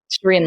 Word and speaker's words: Shereen: I'm even adamant with brown people that it's Shereen Shereen.